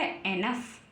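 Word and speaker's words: enough: ओ यू जी एच ई एन O Yeezy H last में है ओ Yeezy H तो क्या बन गया एनफ क्या बन गया एनफ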